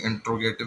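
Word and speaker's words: interrogative: ठीक है, अब आ जाए प्रेजेंट इंटेरोगेटिव। ठीक है, इसकी प्रोनाउंसिएशन वैसे काफ़ी लोग इंट्रोगेटिव भी कहते हैं, कोई इंटेरोगेटिव भी कहता है, मुख्तलिफ प्रोनाउंसिएशंस आती हैं।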